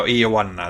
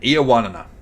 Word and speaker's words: Ioannina: I think that, I'm not going to try and pronounce the name of the place we're going to again, but Ionosis. Oh, I can't pronounce it properly. Anyway, that place, I think that was sort of over to the west. Yeah, Ioannina, that's it. Yeah, thank you very much. Thank you, Wikipedia man. Ioannina.